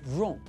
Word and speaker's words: wrong: If the letter W is the first letter of the word and is followed by the letter R, then we don't pronounce it, as we've just seen with the word wrong.